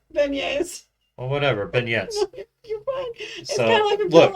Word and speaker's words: beignets: the initial stuff but am i saying it wrong yeah what are they beignets or whatever ben yes